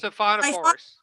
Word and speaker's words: Siphonophores: Spell it out. Cyclo what? It's wait 1 second. Where is it? Siphonophone. Siphonophores.